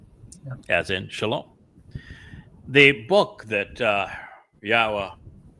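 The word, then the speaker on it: שָׁלוֹם: The W in Hebrew is pronounced either as a O or U.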